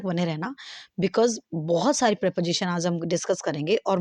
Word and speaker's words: preposition: That is प्रेपोजिशन। ठीक है, इसकी प्रोनाउंसिएशन रहेगी आपकी प्रेपोजिशन। हम इसे प्रीपोजिशन नहीं पढ़ेंगे।